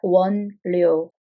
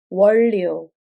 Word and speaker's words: 원료: 숙성된 아이스크림 원료에 자, be careful with this pronunciation. It's not 원료. It's 원료. 원료. It's pronounced as 원료.